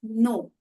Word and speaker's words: know: Drop कर देते हैं, जैसे कि KNOW। अब अगर आप ये शब्द देखेंगे तो इसको हम प्रोनाउंस करते हैं एज नो। तो के को हम प्रोनाउंस नहीं कर रहे, उसको हम ड्रॉप कर रहे हैं, वो साइलेंट। तो KNOW हुआ नो।